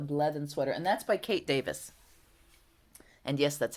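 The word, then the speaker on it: Kate Davies: So yes, that's the Blethen sweater, and that's by Kate Davis. And yes, that's how you pronounce her name.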